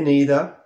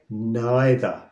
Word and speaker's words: neither: it's the same for the negative version of this word too neither I say neither some of my friends they say neither neither or neither both 100% correct our next phrase is